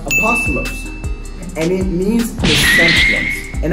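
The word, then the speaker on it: ἀπόστολος: in the Roman Empire in Greek it is pronounced apostolos and it means commencements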